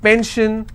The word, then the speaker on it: pension: If I have pension, I will stress on pen.